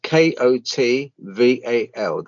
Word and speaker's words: Kotval: I'll spell it out. It's Kotval.